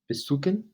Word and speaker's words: besuchen: Besuchen, visit. Besuchen, visit. You're not pronouncing the C. The CH is almost as if it's a K in English. You'd say besuchen.